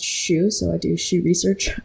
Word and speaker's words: Xu: And you know, my last name is pronounced shoe.